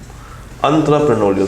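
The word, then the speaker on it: entrepreneurial: इसकी जो सही प्रोनाउंसिएशन है वो यही है, एंटरप्रेन्योरियल स्ट्रक्चर।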